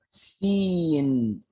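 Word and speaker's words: س: more to do yeah the third letter is c in right okay so this would be s e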